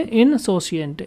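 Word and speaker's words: insouciant: इसको कैसे प्रोनाउंस करेंगे? इनसोसिएंट।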